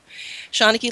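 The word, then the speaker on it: seanchaí: of the human experience shauna key means storyteller in irish hang on that's how it's said shawnicky library became a library out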